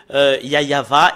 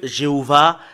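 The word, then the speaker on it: יהוה: c'est le fait de prouver que yayava est vrai que j'appelle souvent et le fait de prouver que jéhovvah est faux et AHA et faux et Yahou également et faux que tout le monde appelle temps nous allons prouver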